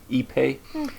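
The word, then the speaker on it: ipe: have a hardwood like epe so it's it's spelled I PE but this is like a South American wood so they pronounce it eepe and then mahogany they're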